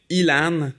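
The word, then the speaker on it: élan: Well, it comes from a string ELAN, which is present in the binary file. ELAN, in French, you can pronounce it Elan, and Elan is actually a moose in French.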